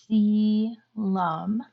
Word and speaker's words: coelom: So the word coelom means internal body cavity, and I know that's a weird spelled word, but it is pronounced like coelom.